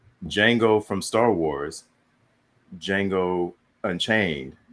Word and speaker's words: Django: I was like, Django from Star Wars, Django Unchained. They're spelled differently, but pronounced the same.